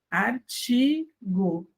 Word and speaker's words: artigo: Veja que eu tenho T e o I de novo, então fica ch, artigo. Esse O no final da palavra vira U.